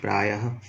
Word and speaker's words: प्रायः: विसर्ग का चिन्ह ऐसे होता है, इसका उच्चारण ह की तरह होता है। जैसे प्रायः, उच्चारण होगा प्रायः, नमः, अतः, ईशः आदि।